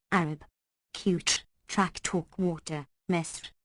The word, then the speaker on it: Misr: Qutr, track talk water, Misr, vulgarly pronounced Masr.